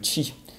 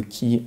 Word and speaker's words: chi: mécanique qui est le chi. Ou le ki, ça dépend de quelle partie du monde, comment on le prononce.